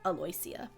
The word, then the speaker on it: Aloysia: that at the beginning a-l-o-y-s-i-a so my head read that but hers is actually pronounced more phonetically aloysia aloysia um Neri is